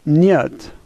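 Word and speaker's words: нет: this word is polka the H and Russian is pronounced like an N and the E is yeah and the T is like T and so this word is nyet the first letter has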